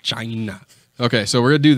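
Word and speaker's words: Blac Chyna: actually what sounds like I believe it's pronounced China I believe that's how it's supposed to be pronounced I think that's how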